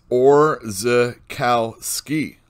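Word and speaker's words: Orzechowski: itch there you go and that one letterer or zakooski his name is orza kal ski so there you go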